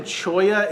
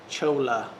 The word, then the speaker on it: cholla: pull it up it's c-h-o-l-l-a chola or chula however it sounds that's how it's spelled chola but choya is a really cool wood